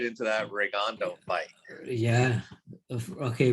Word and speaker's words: Rigondeaux: get right into that regando fight yeah okay we gotta pronounce his name right versus rig indiana regando ring india rick and dion rigging diana yeah well yeah we'll jump